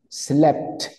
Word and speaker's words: slept: Slept. Ahí pronuncio todas las letras, slept, tanto la P como la T.